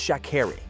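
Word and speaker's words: Sha'Carri: reporter addressed her and mispronounced her first name it's shakeri she said curtly the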